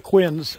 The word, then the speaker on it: quince: you remember the quinn's only one of the quinns set through and there it is right there